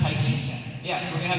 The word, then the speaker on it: Tyche: I'm going to have Gabby, which was drawn by Moon, and you're going to have, I think, is it pronounced Tyche?